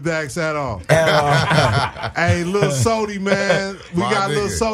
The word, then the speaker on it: Sodi: And that's Sody, SODI. Because Yes, sir. some of you motherfuckers is phonetically challenged.